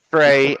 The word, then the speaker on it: Frey: It's Frey and it's Frey. And Fry is without the Andrew Dodge says it's spelt.